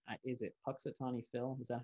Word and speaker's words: Punxsutawney: Is it Punxsutawney Phil?